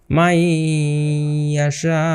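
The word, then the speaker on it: يشاء: তো এটাকে আমরা কিভাবে উচ্চারণ করব, মাইয়াশাউ। এখানে কিন্তু আমরা দেখতে পাচ্ছি যে শিনের উপরে 4 আলিফ আছে, 4 আলিফ এখানে টানতে হবে এখানে।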